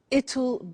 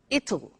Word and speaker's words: it'll: now will is easy really it's just the pronunciation which is difficult I said tomorrow it'll be cold you notice how it will be comes it'll it'll strange pronunciation yes sir tomorrow it'll be